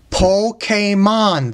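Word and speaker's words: Pokémon: So it's Po, then K-A-K, Po-K, Mon, M-O-N, not Moon. There's no two O's over there either. Pokemon, that is how you pronounce it.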